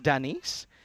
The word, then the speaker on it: Denise: It's got French and Greek roots, says Denise, pronounced Denise.